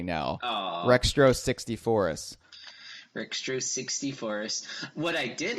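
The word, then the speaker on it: Rextro Sixtyfourus: Rextro 64us.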